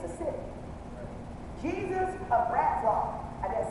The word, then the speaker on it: Breslau: Breslau.